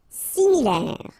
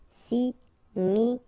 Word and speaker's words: similaire: Similaire. Final E not pronounced. Similaire.